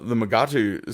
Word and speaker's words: Magatu: My mind must be really weird because when I saw 14, the Magatu skeleton, and yes, I'm using the pronunciation from the episode. The Magatu skeleton, I went somewhere